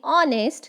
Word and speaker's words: honest: Here, H is silent in honest.